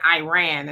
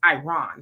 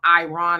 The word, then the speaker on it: Iran: I've been saying Iran and I was told it's Iran. So, I'm going to try to uh uh be correct in how I pronounce it, but um Iran and so we're going to get in all